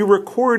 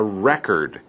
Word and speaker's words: record: That information is called a record. It's the same spelling when it's a noun, but the pronunciation is different.